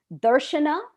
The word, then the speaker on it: Darshana: If the accent on the first syllable with most Sanskrit names will get you in the pocket. So it's DARSHANA or DARSHANA, either two syllables or three, but DARSHANA or DARSHANA. Accent on the first, we're golden.